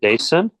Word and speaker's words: Dason: I don't know if I'm pronouncing that first name correctly. Dason. Dason. Thank you.